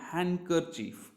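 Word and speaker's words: handkerchief: अगर आप यहाँ पर देखें तो डी हो जाता है यहाँ पर साइलेंट, तो इसको पढ़ते हैं हम हैंडकरचीफ।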